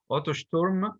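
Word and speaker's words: Otto Sturm: the t or the p the s is pronounced as as we said earlier otto storm otter storm was one such person a boy their age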